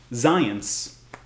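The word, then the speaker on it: Zajonc: toward that stimulus more favorable so for example zion's it is spelled like zejonk but it's pronounced zions this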